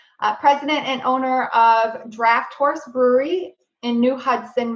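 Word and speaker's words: Draught: thank you that's pronounced draft correct it's spelled d-r-a-u-g-h-t but pronounced draft yeah one of our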